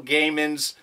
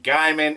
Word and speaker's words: Gaiman: First off, last week in my opening, I totally mispronounced Neil Gaiman's last name. I said Gaiman, it's pronounced Gaiman, and you would think